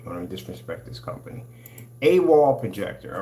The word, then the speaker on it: AWOL: How do they pronounce this machine? All right, guys. CES 2023 checking out the AWOL Vision. AWOL.